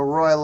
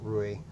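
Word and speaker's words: Ruy: B 5 okay the Royal Oh pass let's do it it's not the Royal Lopez it's the Roy Lopez but people say Roy because they can't pronounce Rui so wait all right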